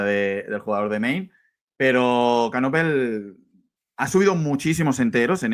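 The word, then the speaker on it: Knueppel: Duke, a ver si lo pronuncio bien, con Canuepel. ¿Cómo se pronuncia, Tony? Canopel.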